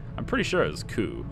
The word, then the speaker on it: coup: pretty sure it was coup like not with the P is silent but anyway you can